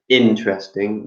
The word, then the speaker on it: interesting: So interesting, the stress is on the interesting.